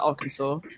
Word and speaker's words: Arkansas: So we got somebody from Luxembourg, Arkansas. That is how you pronounce that, Arkansas.